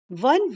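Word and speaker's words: one: option A यहां पर वन word के आगे ए लगाया है क्योंकि दिस इज बीइंग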